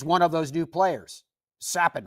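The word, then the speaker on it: Capan: of those new players sappin I should say is how you properly pronounce his name you probably do recognize the name once I pronounce it correctly because he made news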